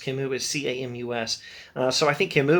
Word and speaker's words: Camus: think camus would say speaking of constants not pronounced kim who is c-a-m-u-s uh so i think camus would say something